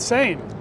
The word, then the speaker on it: Sein: sure I got it he said like insane and I said yes